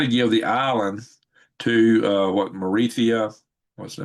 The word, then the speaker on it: Mauritius: We know he was trying to give the island to Mauritius.